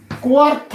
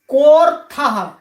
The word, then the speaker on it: कोऽर्थः: कोऽर्थः, कोऽर्थः, कोऽर्थ, इसका भी यही प्रयोजन है, क्या लाभ है। हम आप सभी पाठकों से निवेदन करना चाहेंगे, ये जो चिन्ह लगा हुआ है इसका उच्चारण नहीं होता। कोऽर्थः ऐसे ही इसका उच्चारण आपको करना है।